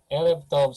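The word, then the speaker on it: ערב טוב: Erev Tov, Sir Amit. Yes. Yeah, that's exactly how you pronounce, and this is Huh?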